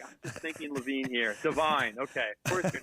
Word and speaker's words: Devine: night and your mistake earlier i said his name wrong i never met him before and i was like josh devine how are you great to meet you thanks